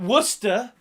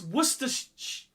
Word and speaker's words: Worcestershire: It's not Worcester. It's not Worcester sauce. You don't call it Worcester sauce. It's Worcestershire.